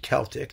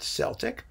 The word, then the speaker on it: Celtic: He pronounced it Celtic, not Celtic.